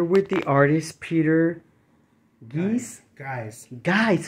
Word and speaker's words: Geise: Guys, how come it's hard to say your name? Well, because the Germans pronounce it Geise. Oh, but my great grandfather softened it to guys, like G-U-Y-S, guys, so that it would be easy to pronounce.